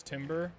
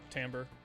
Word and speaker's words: timbre: You thought it was timber? Nope, timbre. Yeah, I don't know why it's pronounced like that.